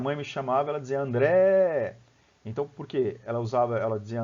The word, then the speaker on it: André: Quando minha mãe me chamava, ela dizia André. Então, por quê? Ela dizia André e alongava o André. Se você for ver, vai coincidir. A mesma sílaba tônica do meu nome, que é o Dré, né, vai coincidir com a